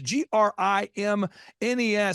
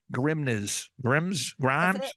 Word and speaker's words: Grimnes: He's like, think of it as like the grimness of the situation.